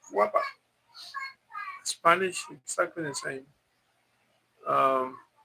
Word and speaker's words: guapa: Bob, how do you pronounce guapa with the G or without? In Spanish, is with a G, Bob.